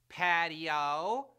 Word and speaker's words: patio: a three- syllable word patio in Spanish the I and the O sort of blend together into one sound making patio